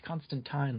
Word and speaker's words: Constantine: and the movies yeah it's Constantine like wine um but yeah it's